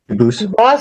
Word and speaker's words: Dubus: I know a family with the same exact spelling in America, and they do pronounce it Dubus, but you said you pronounce it Dubus, as the original Dubus, as the original French.